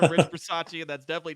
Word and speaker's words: Bisaccia: I just called him Rich Bisaccia, and that's definitely not his name, but I love how you do the breakdown on that.